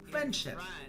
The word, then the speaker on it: friendship: So it sounds like friendship. Friendship. Friendship. You can hear how the D sound is not even said.